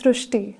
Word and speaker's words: Shrusti: We have heard of Shristi, but this is a very unique name, Shrusti. So in Marathi, the word Ri is pronounced as Ru. So that is why the pronunciation goes Shrusti.